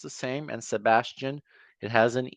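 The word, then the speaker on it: Sebastien: and Sebastian. It has an E instead of the A, but it is also pronounced how you're used to it being pronounced.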